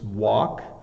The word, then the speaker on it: walk: um the difficulty is that you want to pronounce it wrong um it's walk um it's similar to um like w walk